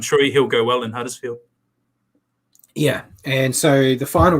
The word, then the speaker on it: Huddersfield: Huddersfield. Can I try again? Don't say Huddersfield or Huddersfield. It's Huddersfield. Huddersfield.